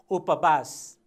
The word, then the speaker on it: उपवास: हामीले लेख्य रूपमा वास लेखिरहेका छौँ अथवा व वर्ण प्रयोग भएको छ, तर हामी उच्चारण गर्दा यसलाई बको उच्चारण गरिरहेका छौँ। उपवास, उपवास, उपवास।